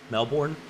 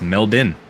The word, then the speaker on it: Melbourne: pronounce melbin in Australia Melbourne it's melbin that's how it's actually pronounced but it's yeah exactly